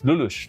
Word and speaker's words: Lelouch: Is that how you pronounce Lelouch? Yes, it's Lelouch.